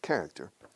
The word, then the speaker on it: character: Pero we stress the first syllable, character, of the people in the south of Spain, especially in Seville.